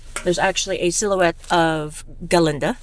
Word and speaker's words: Galinda: And as you can see, there's actually a silhouette of Galinda. The G is silent.